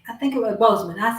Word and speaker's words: Boseman: When I read And I watched this thing talking about how Chadwick Boseman was Boswick. I think it was Boseman.